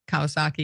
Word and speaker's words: Kawasaki: Kawasaki, yeah.